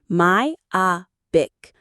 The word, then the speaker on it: myopic: Myopic. Myopic. The stress is on the O. Myopic.